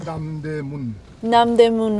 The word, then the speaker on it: Namdaemun: How do you pronounce the market where we're going? Namdaemun Market.